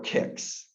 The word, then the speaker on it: CICS: So just to give you an idea, you've probably heard of of CICS or kicks.